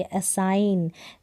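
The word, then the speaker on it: assign: उच्चारण करके देख ले जैसे इसको भी आसानी गण नहीं बोलेंगे असाइन जी यहां पर साइलेंट है रिजाइन अब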